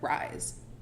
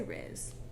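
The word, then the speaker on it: Rhys: Oh, I said Rise. R-H-Y-S? R-H-Y-S. I say Riz.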